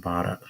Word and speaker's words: Bada: us know their names bada and Sylvie I love that name bada am I saying it right bada you are bottom I like that